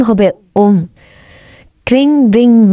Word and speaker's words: ওম: অবশ্যই এটা লিখবেন, এই তিনটা, তারপর লিখবেন ওম, sorry, king being Meng ওম ওম, এটা উচ্চারণ হবে ওম।